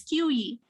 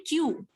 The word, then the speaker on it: queue: So do not pronounce it as QE. It will be Q.